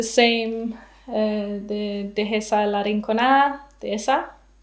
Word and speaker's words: Dehesa: And for this one, I used the same, the Dehesa la Rinconada Dehesa. I actually don't know how you say that in Spanish. You don't pronounce the H.